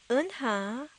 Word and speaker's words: Eunha: But Eunha, okay, the easiest way to remember to say it correctly is if you can imagine yourself being punched in the stomach.